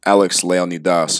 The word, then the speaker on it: Alex Leonidas: Now next up, and Alex didn't suggest this, but good friend Alex Leonidas, and that's how you say his name.